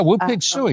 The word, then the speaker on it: Woo Pig Sooie: Yeah, Woo Pig Suey.